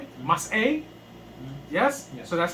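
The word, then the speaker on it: מסעי: So that means that stops the sound, right? Mm-hmm. So it's mas a, right? Mm-hmm. Mas a.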